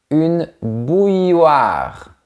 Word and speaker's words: bouilloire: Si tu veux faire du thé, tu peux utiliser une bouilloire. Au début du mot, on ferme la bouche et après on fait un sourire. Une bouilloire.